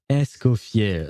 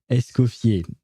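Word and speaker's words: Escoffier: Oh no, her name is Escoier. Okay. Okay. It's not actually Nes Nes coffee. It's a Esopier, which is a kind of a strange word, uh to be fair.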